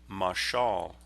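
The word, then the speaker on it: מָשָׁל: It's a masculine noun that is pronounced in Hebrew, mashal.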